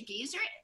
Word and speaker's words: geyser: And even like Yellowstone, you know, even though it's a geyser or geyser, how do you say it? Geyser. I always butcher it. Actually, it can be pronounced both ways, geyser and really?